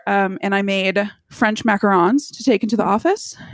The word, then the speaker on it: macaron: was like you Hicks that's not how you say it it's macaron and they were like are you sure and I was like no so I pulled up um the Wikipedia on how to pronounce macaron and I'm doing it with an American accent it's actually like ma like like a you do it with it's like the president of France yeah uh so I